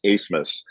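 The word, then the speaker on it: Abmas: spelled a b m a s and it's pronounced asmus uh but they actually Oral Roberts might actually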